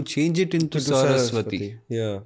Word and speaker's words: सरस्वती: हैट सो वैसे ही सरस्वती has been miss pronounced as Harak वती okay that is द